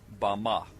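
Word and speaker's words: במה: in the Strong's Hebrew dictionary and it is pronounced ba ma ba ma is most commonly used to refer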